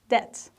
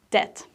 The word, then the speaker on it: debt: it's a debt right debt a debt is something you owe to somebody especially it's money so the tricky thing about this word is not to pronounce the letter b it's debt he managed to pay